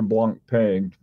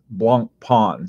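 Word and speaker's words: Blancpain: do you like your Blan pain Blanc Pond sorry that's the correc pronunciation um yeah I like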